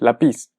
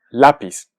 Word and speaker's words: lápiz: sea aguda es decir que se pronuncie lápiz si no ponemos la tilde esta palabra es lápiz sin embargo escuchamos claramente que es lápiz por lo tanto lleva tilde forzosamente lápiz muy bien y antes